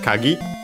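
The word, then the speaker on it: 鍵: find the keys around accent on the last syllable. So yeah actually you can hear it in this game. So low high low then what as mentioned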